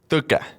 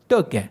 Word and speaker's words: Tõke: Now, Tõke is pronounced slightly different in Estonia. It is. It's called Tõke. Tõke. Yes. Tõke. Yeah, we have a special letter. It's like an E on the T.